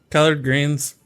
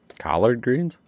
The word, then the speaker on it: collard greens: we having uh some uh colored greens greens colored greens collard greens colored colored uh it's a southern food i